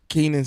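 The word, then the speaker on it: Kenan: You don't know how to pronounce that? Keenan Stadium.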